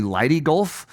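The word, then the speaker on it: Leyte Gulf: Ludy Gulf it's actually Lighty Gulf but it was strangely similar to Ludy even in how it's pronounced it's like liy and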